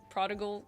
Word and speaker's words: prodigal: Prodigal son? The first one! I'm gonna Google how to pronounce that. Prodigal with a hard G.